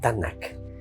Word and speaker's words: Tanakh: Ellos pronunciaban así, Tanakh.